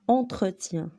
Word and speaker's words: entretien: اما المثال الثالث او قدامها او كتنطق او، هذيك بحال هذيك الاو ما كايناش كنطقوها او. دونك المثال على السطر الاول عندنا entretien، ان entretien مقابل تعني.